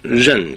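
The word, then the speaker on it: 刃: 중국어로는 ren 그럽니다. 근데 고대 상고음을 보면은 나르, 니르 그렇게 읽었대요.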